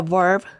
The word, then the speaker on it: verb: english in english the verb to be is changed you say verb your top teeth must touch your bottom lip a verb verb verb okay the verb to